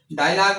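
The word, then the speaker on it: dialogue: डायलॉग में आपके पास जो है वो इ से पहले यू आ गया है। वोवेल से पहले आ गया है। तो यहां पे भी ये आपका साइलेंट है।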